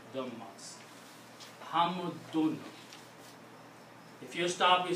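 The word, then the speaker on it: حَمْدٌ: When you speaking this word and you don't want to continue, you stop, then only then you will pronounce this hamd. But if there is another word after that and you cannot stop, you have to pronounce hamdun.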